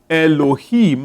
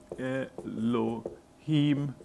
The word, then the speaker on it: Elohim: It would be, Elohim, like this. Elohim. Written something like that, pronounced like that.